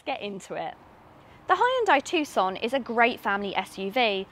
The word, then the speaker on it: Tucson: be reviewing the hyundai tuscan what do you mean it's not tuscan the sea's in another place oh okay so it's the tuxon you don't pronounce a c okay so it's the tucson oh god that is